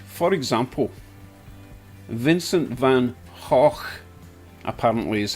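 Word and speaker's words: Van Gogh: pronounce it Vincent van it's not Vincent Van goof or Vincent Van go it's Vincent Van HW correct if I'm wrong but uh I think that's how you pronounce that guy's name cheers everyone so Glenn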